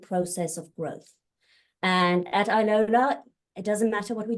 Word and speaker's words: iLola: to be here thank you now the name Iola am I pronouncing that correctly yes all right so Iola